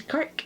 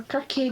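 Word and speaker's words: Kirke: Diggory is in fact Professor Kirk, or Kirky, depending on how you want to pronounce it, who is the professor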